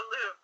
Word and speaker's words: Louvre: Okay, so in 1794, and I hope I say this right, the Louvre opens in the public. Now, how do you say that? It's in France. The Louvre. It's the Louvre.